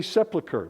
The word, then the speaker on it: Sepulchre: This is a church of the Holy Sepulchre. Many of you have heard of this place, some of you haven't. Often mispronounced.